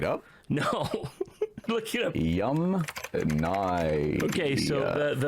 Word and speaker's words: Yamnaya: Yum Nye. Okay, so the Yamnaya people, not Yamnya.